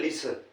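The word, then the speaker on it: listen: weep W double E P weep weep यानी रोना सुनने को कहते हैं लिसन एल आई एस टी ई एन या टी साइलेंट लिसन ठीक है और धोने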